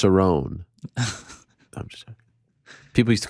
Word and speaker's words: Cerrone: went back to lazar cerrone seven first-round finish losses including three of his last five losses it's actually pronounced sarone people used to call